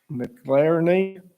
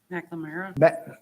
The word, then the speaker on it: McNamara: McLaren, I pronounced that wrong, where are you? McNamara. McNamara might be the name.